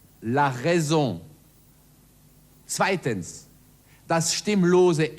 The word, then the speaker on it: raison: Erstens das stimmhafte S, zum Beispiel in Raison, la raison.